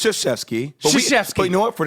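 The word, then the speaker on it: Krzyzewski: you just called him kfki well how do you say it it's sheski but you know what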